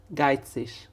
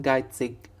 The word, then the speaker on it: geizig: بخيل او شخص اللي هو بنقول عليه يعني جربان بالمصري geizig او geizig. فالاي جي اللي في الاخر الالمان بينطقوها نطقين ايش او اج.